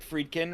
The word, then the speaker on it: Friedkin: right on the cusp is it friedkin right is that how you say it uh yeah this is